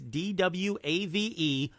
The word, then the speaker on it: D-Wave: Duane quantum - and I didn't say Dave him and I didn't mispronounce Dave it is DWA ve quantum - the what yeah